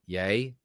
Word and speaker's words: Ye: spelled capital Y lowercase e you get it yay capital D capital S pronounced yades the yay derangement syndrome part of